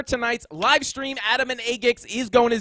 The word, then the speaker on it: AGIX: If you guys didn't know, that's how you say it. It is AGIX.